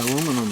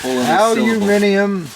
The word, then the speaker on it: aluminum: Hill on it m aluminum yeah aluminum yeah or as you my friends the Brits say alum how could that you know how could there be two entirely different pronunciations because that's a relatively new word you know so uh aluminium that's almost as good